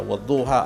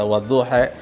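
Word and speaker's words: والضحى: Seperti kita tahu misalnya dulu kita waktu belajar ya, kita ada imalah gitu ya, ada yang membaca majroha, ada baca majreha, ada wadduha, ada wadduhe. Sebenarnya tulisannya kan sama, cuma cara melafalkannya berbeda.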